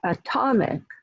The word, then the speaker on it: atomic: It went from being, the word atom, from being stressed on the first syllable, it was a two-syllable word, atom, very weak vowel sound in the second syllable, to atomic, atomic. So the became atomic. That became the focus syllable in that word, the stress syllable.